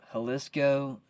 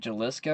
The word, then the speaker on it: Jalisco: grand jury widens charges against Mexico's Jalisco New Generation cartel. Is it Jalisco or Jalisco? Oh, anytime I see like something Spanish, just go ahead and pronounce the J's as an H.